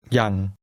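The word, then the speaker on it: ยัง: แ ล้ ว Here's the word for still, which is pronounced with a mid-level tone. Listen and repeat. ยั ง ยั ง How do you say still?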